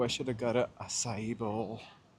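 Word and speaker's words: açaí: Oh, I should have got a asai bowl. I've only recently started pronouncing it asai after years of saying in my head mostly akai.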